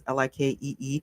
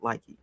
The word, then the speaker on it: Likee: They do own Likey, which is Likee. It may be pronounced like, but I call it Likey, right?